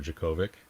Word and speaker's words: Djokovic: Okay, so Juice is going for Djokovic.